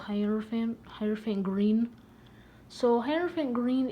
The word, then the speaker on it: hierophant: to say its name i used to say horophone but that's not right so i think it's hierophant please don't abuse me in the comments if i'm wrong but i'm just called hierophant hyperfaint green so hierophant